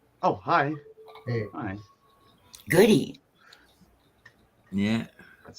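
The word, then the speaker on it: Gaudette: what score are we playing today hi goody oh hi hey hi goody yeah that's how they pronounce it down here i was lost when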